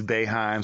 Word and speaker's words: Boeheim: Yeah, because Boeheim sound like A, but the O's in his place.